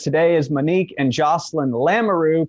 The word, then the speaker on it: Lamoureux: I'm and with us today is Manique and Jocelyn Lamaroo pronounced like kangaroo I just learned for the live signing